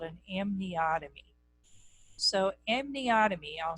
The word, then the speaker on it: amniotomy: So amniotomy, I'll spell it for you.